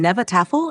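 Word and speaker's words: Hnefatafl: Nefatiful, pronounced somewhere between Nevatafel and you'll never get it right, is an old Norse board game where a king piece must escape a field of attackers.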